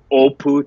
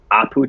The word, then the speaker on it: Apu: for the same way that it's the O opu Trilogy not the Apu Trilogy there's just the pronunciation and the wording I